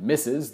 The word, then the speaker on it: Mrs: and eventually was sullied the alternative pronunciation misses that we still use today actually was somewhat frowned upon